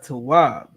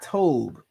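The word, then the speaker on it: טוב: Esau claims that this is pronounced Tov or Tob. It's not. All right. The letters are what the letters are. You have a ta, a wa, and a ba.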